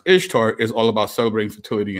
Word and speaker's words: Ishtar: we've all seen right this is ishtar pronounced easter right which actually if you really do pronounce ishtar it doesn't sound like easter but anyway easter was